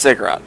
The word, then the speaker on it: Ziggurat: It's pronounced Ziggurat, but you can pronounce it Ziggurat if you wish.